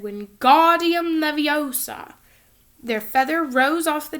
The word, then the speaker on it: Wingardium Leviosa: arms like a windmill you're saying it wrong Harry heard Hermione snap its Wingardium Leviosa make the GAR nice and long you do it then